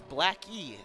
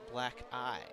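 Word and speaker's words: Blackie: So it is Black E, not Black I. is the correct pronunciation.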